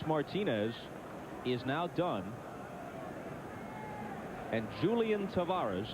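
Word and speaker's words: Julián: And Julian Tavares, and Julian is the way he prefers to have it pronounced, comes in.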